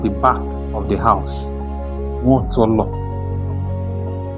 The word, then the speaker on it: Nwotolo: Nwotolo. Some people pronounce it or even write it like Nwosolo. It is not correct. The correct name and the correct pronunciation is Nwotolo.